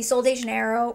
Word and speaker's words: Sol de Janeiro: The Sol de Janeiro Brazilian Boom Boom.